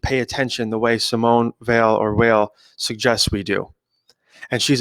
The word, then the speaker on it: Simone Weil: I'm not sure if it's pronounced Weil or Veil, but it's Weil.